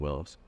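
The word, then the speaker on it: Willys: got 1950 on the boy Beach property 1950 Willis MB it's w l y s it's really called Willis but Los Willis in Columbia because that's how you pronounce it and so that's why we're willly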